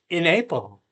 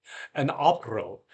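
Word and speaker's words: Aprille: In April. That was wrong. I pronounced it like a modern American. Okay, let's try again. An April, when the showers suita,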